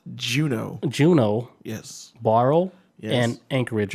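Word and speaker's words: Juneau: points of junior i looked it up it's pronounced juno juno yes barrel and anchorage alaska yes and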